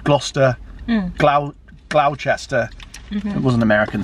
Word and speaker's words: Gloucester: film and they called gloucester glau glauchester it wasn't american saying it in fact it was cursed and danced doesn't it she's like you from glouchester it's like no it's gloucester actually he even says